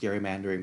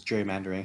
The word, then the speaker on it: gerrymandering: was named after him so it should be pronounced gary mandering but you know people just mispronounced it as gerrymandering so whatever i mean